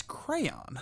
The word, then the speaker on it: crayon: it by ear correct is it crayon if you say cran we're gonna fight crayon or crown it's crayon I say cray I well